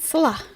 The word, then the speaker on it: Salah: Salah. Salah. She says Salah. Salah. Her emphasis is on the wrong syllable.